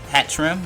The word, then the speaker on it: Hatterene: hat treat a hat ramp hat rim that's hat trim that's how you pronounce the atrium it has to move side